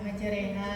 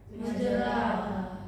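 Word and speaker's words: مجراها: Gimana bacanya? Majereha. Oke. Biasa ya. Majereha enggak ada miring-miring. Miring maksudnya enggak ada miring. Majereha biasa enggak usah majereha. Yang yang miring apanya? Orang yang miring bunyinya. Bunyinya aja. Majenaha. Majereha. Kalau yang salah gimana? Majeraha. Majeroha.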